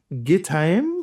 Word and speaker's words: Gittaim: Because of the syllable, you got to, it's not the normal AI sound as in raise. Yeah, and in English, you would just probably naturally read that as Gittaim.